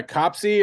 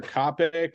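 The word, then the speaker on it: COPC: the intro um yeah copsey or Copic or Copic we're not quite sure the community seems to be coalescing around copsey but you'll hear Copic quite a bit too um that's the English American pronunciation of course there's the French pronunciation and the Norwegians have a pronunciation so everybody produces or pronounces acronyms in their own in their own dialect that doesn't I don't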